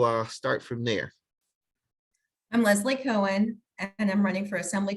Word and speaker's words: Leslie Cohen: and then we'll uh start from there i'm leslie cohen and i'm running for assembly district 29.